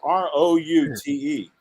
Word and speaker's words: route: and it's r-o-u-t-e yep now root the word root like a tree root is r-o-o-t that's right but the word out is o-u-t yep so i would say it should be properly pronounced route yeah route 309 route